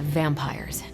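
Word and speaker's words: vampyres: The new breed I'm tracking are uh they're vampires. I see. No, I do not. You already said they were vampires. Vampires with a Y. Pronounced exactly the same as vampires.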